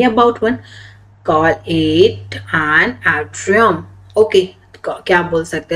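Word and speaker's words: atrium: Okay, if यू are talking only about one, call it एन एट्रियम।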